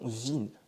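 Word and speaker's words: він: Donc ça se prononce vin et ça veut dire il pareil pour vona.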